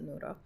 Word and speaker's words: Nora: coach Nora so n-o-r-a that's how I spell my name but I pronounce it noodle but yeah so breakup